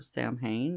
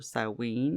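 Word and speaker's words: Samhain: And then we have the witch's new year, which is sin or samhane or sawin or sin or sin or however you want to pronounce it. I prefer sin. Some others pronounce it differently.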